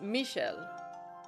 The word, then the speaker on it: Michael: Speaking of Michael, I mean now we have also heard how his name is pronounced for real. So it's Michelle.